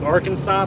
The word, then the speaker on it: Arkansas: Kansas City but it's it's spelled like Arkansas but it's pronounced AR Kansas I don't know if